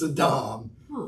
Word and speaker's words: Adam: thought his name was adam but it's not adam okay it's a dom in hebrew almost always the accents on the last syllable unless it's specified otherwise right so it's a dominant